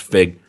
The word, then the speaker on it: Feig: He he came out and fucking said, or Paul Feig, but I think it's pronounced Fig.